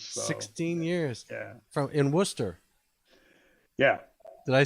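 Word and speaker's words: Wooster: In Worcester.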